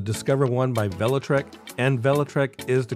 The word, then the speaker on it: Velotric: e-bike called the Discover one by velotrek and velotrek is the correct pronunciation they sent me over a sound file